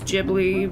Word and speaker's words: Ghibli: if you guys want to know the actual pronunciation it's Ghibli because I read the kind of blah blah